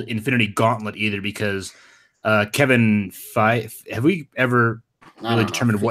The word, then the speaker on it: Feige: gonna be called Infinity Gauntlet either, because Kevin Feige. Have we ever really determined how you pronounce it?